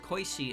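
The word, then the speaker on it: 小石: see her koishi again just like a small rock pronounced koishi as well on the roadside so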